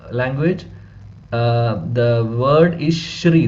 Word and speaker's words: Shri: s it is not SRI actually it is Shri uh because Sanskrit uh language uh the word is Shri the pronunciation is sha not s not sa so if there is